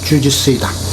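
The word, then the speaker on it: 柔術: 유술이라는 실전 무술이 있었다 유설의 일본어 발음이 바로 주짓수이다 19세기말 카논 지고로라는 뛰어난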